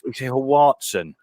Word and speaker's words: Huartson: No, how do you pronounce your second name? Because it's Huartson.